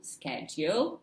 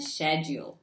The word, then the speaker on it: schedule: up in a dictionary you'll find two ways how to say schedule schedule and schedule schedule this one is known to be American and this one British however I'm not sure